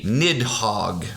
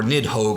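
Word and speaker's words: Nidhogg: bit earlier of the nidhog or nid Hogue I believe is the the pronunciation Norse pronunciation which is this snarling big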